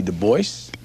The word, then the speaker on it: Du Bois: david levering lewis w.e.b du bois yes he always insisted on that pronunciation uh he did not like the gaelic pronunciation though in his antecedents